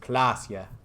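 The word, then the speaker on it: Klaasje: Klasia is pronounced Klasia.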